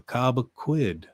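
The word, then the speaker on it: Cobequid: It's pronounced Cobb. The Cobaquid.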